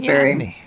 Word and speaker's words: neoteny: I have to pronounce my T's. I always leave them out. It's neoteny. Who needs those T's?